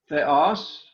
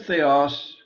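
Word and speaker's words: θεός: they als notice that it's not a diphthong this word means god but each vowel is pronounced separately there is no diphthong for epsilon omicron accent is on us that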